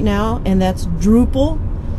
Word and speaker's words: Drupal: right now and that's Drupal it's spelled d r u p a l it sounds like the Dutch word for Village that's how it's got its name uh so we are